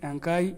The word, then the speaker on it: Enkai: people they refer god to be enkai os ankai in true pronunciation angkai and ankai ankai in